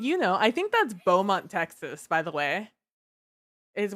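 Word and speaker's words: Bomont: was in in Georgia it just sounds like Beaumont from Texas it's just not spelled like Beaumont this one's actually spelled bio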